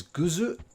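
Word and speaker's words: グッズ: the noun which is guzu which is a weird japanese pronunciation of the word good um and i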